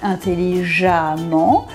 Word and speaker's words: intelligemment: Vous devriez dire « intelligemment », mais vous dites « intelligemment ». Donc ces deux mots se prononcent de la même façon, mais s'écrivent « différemment ».